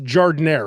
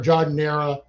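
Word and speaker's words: giardiniera: Roker is I mean, there's no wrong. It's like, you call it jardiniere or jardiniera. It's like harassment, harassment, whatever. Doesn't matter. Just say it like you mean it.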